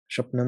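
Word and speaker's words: स्वप्न: Shopna means dream. I think in Sanskrit it's pronounced swapna or shopna. Shopna, that might be my slight Bengali pronunciation there. I'm not sure.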